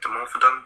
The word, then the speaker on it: Dimorphodon: Is it Dimorphodon? Did I say that right? Correct? Yeah, you said it right.